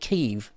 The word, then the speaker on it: Kyiv: I don't know why people started calling it Kyiv. Because that's the Ukrainian pronunciation. But we've always called it Kiev.